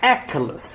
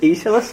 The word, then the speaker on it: Aeschylus: But people would really put like fancy pronunciations like Aeschylus. I was like, it's not. Come on, it's just Aeschylus.